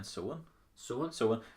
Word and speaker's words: Samhain: It's spelled Sowin if you're gonna try and pronounce it, but it's actually spelled Samhain, which in Irish means November.